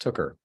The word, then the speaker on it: Tooker: Ministries Central Ministries and my last name is pronounced Tucker Tucker so my and is